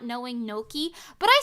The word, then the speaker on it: gnocchi: I don't know if that's how you're supposed to say it, but Mimi, can you really talk about Italian pronunciation after not knowing gnocchi?